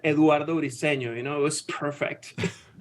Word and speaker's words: Eduardo Briceño: it going I love the way you said Eduardo riceno you know it was perfect I appreciate it